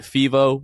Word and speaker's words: Fevo: that night you can find the tickets at fivo which is spelled f-e-v-o dot me slash the six man